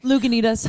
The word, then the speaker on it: Lagunitas: Oh, I pronounced it It's wrong. okay. I'm it's so okay. sorry. Lagunitas.